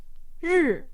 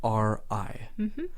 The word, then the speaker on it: 日: Some people read this as, ri. 日 R is correct. Or other people know what R sounds like, but they get the vowel wrong, and they'll say r. 日 R.